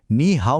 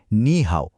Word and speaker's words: 你好: তাই নি হাও এর উচ্চারণ নি হাও না হয়ে হয় নি হাও।